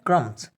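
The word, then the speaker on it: crumbs: तीसरा हमारे पास है क्रम्स। क्रम्स क्रम्स कहते हैं टुकड़ों को, इसमें भी हम बी को नहीं पढ़ेंगे, सिर्फ क्रम्स बोलेंगे यानी एम को ही प्रोनाउंस करेंगे।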